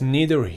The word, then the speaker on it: neither: That's neither here nor there. هم neither میتونی بگی هم neither. تلفظ جفتش درسته.